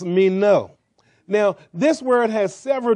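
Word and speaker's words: μένω: one word continue then the greek is the word mino somebody said meno now that don't mean you know amen but uh that's how it's pronounced mean no now this word has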